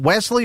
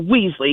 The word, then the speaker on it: Weasley: Did we pronounce the dog's name? Was it Wesley or Weasley that we had a couple of weeks ago? Oh, Weasley. Weasley, and a text, I